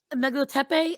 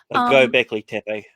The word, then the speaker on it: Göbekli Tepe: But then you've got Megalotepe. I'm trying to remember how it's pronounced. Göbekli Tepe.